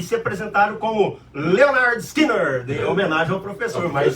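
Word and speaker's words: Lynyrd Skynyrd: Leonard Skinner, que você... Então, eu não trouxe nada do Leonard Skinner, porque, como o Victor fala, né, esse tá na coleção 2. Então, mas a pronúncia é essa mesmo.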